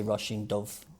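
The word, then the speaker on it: Róisín Dubh: The Rushing Dove.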